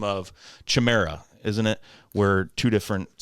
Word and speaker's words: Chimera: Chimera. Oh, we're both wrong. Chimera, like Crimea.